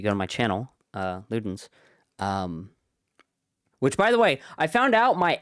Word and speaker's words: Ludens: Um, but yes, but then it's pronounced Ludens.